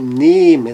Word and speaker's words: nehmen: Então, nehmen, no caso do E, torna-se longo e fechado.